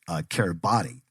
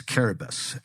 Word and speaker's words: Kiribati: It's spelled as you would see it, Kiribati. but it's Caribus.